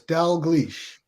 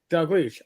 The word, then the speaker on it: Dalgleish: pretty close all right it's actually just two syllables Dell glitch Dell glitch all right okay fair